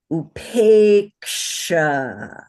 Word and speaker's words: upeksha: are all nouns, is upeksha. Everybody say upeksha. Upeksha. Upeksha. Upeksha. Very good. Upeksha. So it has two long vowels. So even though it's only a 3-syllable word, it's held for 5 beats, right?